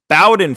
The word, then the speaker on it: Bowden: Second game, Brian Bayo versus Bowden Francis. It's not Bowden, it's Bowden. What? Yeah, it's Pronouncing it Bowden.